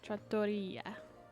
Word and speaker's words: trattoria: Trattoria. See? Trattoria. Okay, I've been putting the emphasis on the wrong syllable.